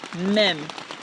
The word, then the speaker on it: Mem: And that Hebrew letter is the letter Mem, pronounced like the letter M.